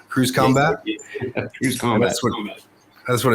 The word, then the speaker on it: Cruise Combat: And he's also on the board of Cruise CMBT, or I guess you pronounce that Cruise Combat.